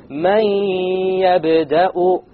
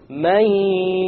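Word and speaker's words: مَنْ يَبْدَأُ: So we pronounce this as man yabda'u, man yabda'u, man. Notice there is no man. It's immediately the mim associates with the ya, and you drop the noon sound.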